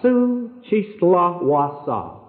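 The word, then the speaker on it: Xochistlahuaca: a minute we were over the village of Sue chisla Wasa time you say it you passed over it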